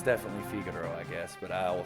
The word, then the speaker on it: Figaro: No, it's definitely Figaro, I guess, but I will say Figaro a lot because when I was a kid, that's how I pronounced it.